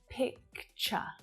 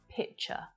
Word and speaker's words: picture: picture picture picture so i'm just going to draw your attention to that little k sound right there okay it's really important